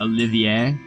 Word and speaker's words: Olivier: ] swords on you say it without the r at the end then you pretty much say it like a Frenchman Olivier I mean yeah I guess that would work Oliver probably would be all